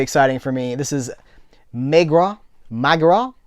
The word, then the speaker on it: Maigret: This is Maigret. See, with the French pronunciations.